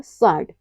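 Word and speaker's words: sword: कब साइलेंट रहता है यदि किसी वर्ड में एस के बाद डब्लू आता है तो डब्लू हमेशा साइलेंट रहता है जैसे है आंसर और साड इन सब में क्या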